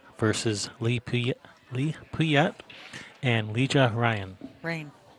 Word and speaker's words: Rein: Rein. These are Rein. He told me Ryan? it's pronounced Ryan.